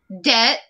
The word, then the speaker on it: debt: The letter B is silent.